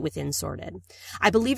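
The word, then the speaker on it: Sortd: it's called sorted and it's spelled s o RTD so no e in there but sorted and it's an add-on or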